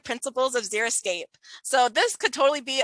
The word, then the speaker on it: xeriscape: So xeriscape comes from the Greek word xeric, which means dry. I've heard some people mispronounce it as xeroscape, which to me sounds like no landscape, whereas xeriscape can be